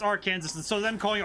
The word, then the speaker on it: Arkansas: Yeah, it's Arkansas, and so them calling it Arkansas is very confusing.